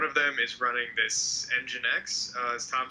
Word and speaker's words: nginx: and we one of them is running this nginx as tom said it's pronounced ng x yeah you're right cool cool and uh what